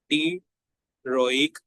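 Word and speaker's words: pteroic: ये दोनों को हम लोग नाम देते हैं टी रोइक एसिड यानी कि टेररिडीन रिंग और पैरामाइनो बेंजोइक एसिड को हम लोग टिरोइक एसिड का नाम देते हैं। पी जो है वो साइलेंट होता है।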